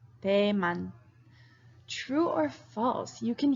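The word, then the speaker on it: 대만: PU oh yeah pretty cool okay Taiwan is pronounced Damon Damon true or false you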